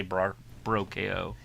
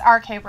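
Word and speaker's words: RK-Bro: right okay bro okay sometimes they say bro ko it's rk bro i know so i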